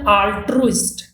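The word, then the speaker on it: altruist: line he इज एन अल्ट्रस्ट तो देखिए यहां पे स्पेलिंग और प्रोनाउंस एशन में काफी फर्क है तो मैं ये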